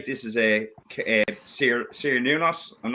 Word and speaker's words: Cernunnos: And they say this is a Cernunnos.